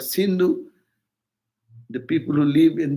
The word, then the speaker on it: Sindhu: When Persians visited that, they could not pronounce the word sin, S. They pronounce S as H. So Sindhu become Hindu.